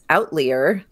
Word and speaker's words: outlier: find out later that the word they're saying as outlier o u t l i e r is really pronounced outlier right man's laughter I